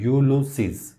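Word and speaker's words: Ulysses: उन्होंने क्या लिखा हुआ, ये लफ्ज़ थोड़ा मुश्किल भी लग रहा है तो ये इसकी प्रोनाउंसिएशन है यूलुसीज.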